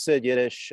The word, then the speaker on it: Sid Yiddish: name correctly yes uh it is sid yiddish uh some people call me siddish but um sid is just fine okay i just saw